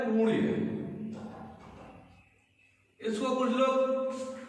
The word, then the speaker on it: पुण्य: आधा ण वर्ण है तो वहां पर उच्चारण भी ण के रूप में ही होगा। जैसे अशुद्ध प्रयोग, ये शब्द है पुण्य, इसको कुछ लोग ण